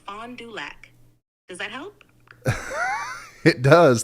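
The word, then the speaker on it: Fond du Lac: this place in Wisconsin I think it's called fondu lock fondu um can you help me pronounce that correctly sure it's pronounced Fond duac does that help it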